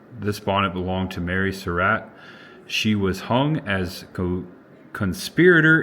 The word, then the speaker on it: Surratt: I always heard Surratt or Surratt. I think it's Surratt is what I read.